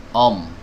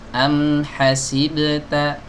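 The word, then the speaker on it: أَمْ حَسِبْتَ: Om, o, jangan o tapi a tipis. Am hasibta, bukan om ho, om hasiboto, ini jadi tebal-tebal semua ya.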